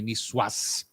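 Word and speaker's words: niçoise: just begs for a nwas salad and or as Chef Terry would make me say nwas he said pronounce the S there uh uh that would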